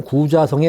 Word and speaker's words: 구자: 그래서 이 환국 시대에 이때의 도읍지가 신강성 구자성에 가면 있습니다. 지금도 그 터가 남아 있습니다. 예. 구자성에 가면은 그 성터가 상당히 뚜렷하게 남아 있습니다. 예. 요때 이제 이게 지금 중국 사람은 그걸 구차라고 발음하죠. 우리말 구자.